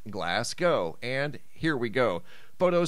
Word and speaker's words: Glasgow: you guys the first photo is out of glass go Scotland I was informed that it's not pronounced glass G it's pronounced glass go and here we go photo sent him by